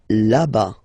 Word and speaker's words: là-bas: Là-bas, là-bas. Remember, final S not pronounced.